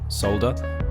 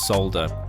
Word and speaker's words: solder: think the Brits say solda and I think the Australians also they also say soer is it the I think the Americans they say solder soer hey I'm soering here I'm soldering I'm getting rid of